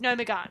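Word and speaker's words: Gnomeregan: Apparently it's Nomergon, and I've been trying to learn to pronounce it properly.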